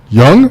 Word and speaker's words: Jung: The last name is spelled Jung. Okay. However, it's a soft J. It's a European pronunciation, so it's Young.